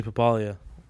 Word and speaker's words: Pappaly: to pronounce it then Pap papali papali yeah papalia it's a little different I know but it's like I'm not missing I'm adding you're adding yeah yeah